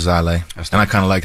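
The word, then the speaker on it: Xilei: It's spelled X-I-L-E-I. Zai Lei.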